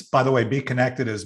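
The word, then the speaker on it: BeeKonected: you're hearing it uh it's spelled with a k and the b is like a b so so you know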